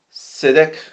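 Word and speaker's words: צדק: La palabra justicia en hebreo se pronuncia o es la palabra Sedek.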